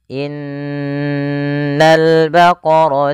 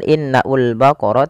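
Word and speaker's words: إن البقر: Pada alif lam di sini, lamnya ditampakkan dengan jelas. Ini bukan innaul baqara tapi langsung ke lam.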